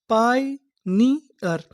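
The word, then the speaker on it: pioneer: यानी आपको इंग्लिश में कहीं पर इआर लिखा मिले तो हम लोग इआर को पढ़ते हैं अर। तो हमारी मीनिंग क्या बनी? पाइनियर।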